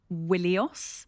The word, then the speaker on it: Ilios: And we think that that word Ilios would initially have been pronounced Willios.